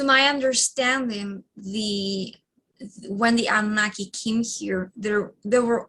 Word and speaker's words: Anunnaki: i hear that that the ananukai is that how you pronounce it okay i'll get it straight one of these days so the anunnaki so the anunnaki were